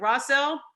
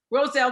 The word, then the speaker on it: Roselle: You're in, is it Rossell? I want to make sure I say it right. Roselle, New Jersey, growing up there, Abraham Clark High School.